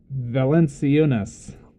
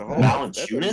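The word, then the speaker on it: Valančiūnas: Valenciunas. Man, that's got some tildes and accents. Oh, Valanciunas?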